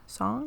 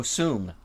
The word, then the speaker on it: Soong: How do I pronounce it again? I've already forgotten. Dr. Crusher? No. The Soong? Song? Oh, Soong.